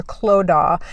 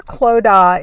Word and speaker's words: Clodagh: head nun who is sister Clodagh and I think I'm pronouncing that correctly and sister Clodagh is actually quite young